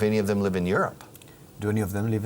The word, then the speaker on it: Europe: Mira, la pronunciación de esto. Imagina que esto en vez de bolígrafo se llama up. This is an up. Up. It's my up. Where's Europe? Europe. You understand? Europe.